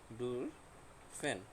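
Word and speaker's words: dürfen: তারপর লেয়ারনেন, লেয়ারনেন অর্থ পড়া, তারপর ডুর, উ umlaut উচ্চারণ উ, এটার উচ্চারণ কী হবে, উ। ডুর ফেন, ঠিক আছে, ডুর ফেন অর্থ অনুমতি নেওয়া।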